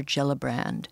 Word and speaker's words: Gillibrand: Or it was pathetic, and I blame Senator Gillibrand. Yeah. Is that how you pronounce her name?